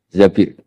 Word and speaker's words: Zabir: Di hadis ini bukan bacanya bukan Zubair tapi Zabir.